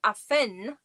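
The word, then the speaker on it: Affen: If you add an n at the end, if you say aphen, that's monkeys.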